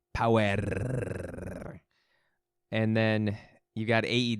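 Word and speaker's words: Powerrr: insane you got NWA power debuting that I've wondered I've been I've been saying it wrong it's okay you got it you gotta roll the are it's uh it's required power and then you got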